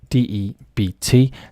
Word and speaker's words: debt: is in debt in d e b t uh the translation here sorry the pronunciation uh is debt the um B is in fact silent so to be in